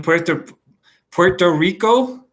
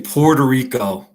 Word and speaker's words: Puerto Rico: Are you in Puerto Rico? We Anglos say Puerto Rico. Puerto Rico. I try to at least have some respect for the Spanish pronunciation of some places.